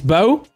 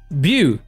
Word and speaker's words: Bo: It's Bo. See, I knew my cousin's got a dog called Bo and it's pronounced the same way, but I just disagree. I feel like it should be pronounced Bew.